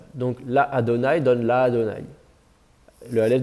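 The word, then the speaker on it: לַאדֹנָי: La Adonai, on avait une deuxième syllabe. Mais le Aleph va devenir quiescent, ça va faire la Adonai. Avec voilà, une voyelle ouverte et un A un peu plus long.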